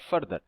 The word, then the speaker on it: further: Difference है, फार्दर और फर्दर? देखो प्रोनाउंसिएशन स्लाइट डिफरेंस है। यहाँ पे इसके जो ए है इसकी बड़ी आ की मात्रा का साउंड आएगा और यहाँ पर छोटी अ की, जैसे फार्दर और फर्दर।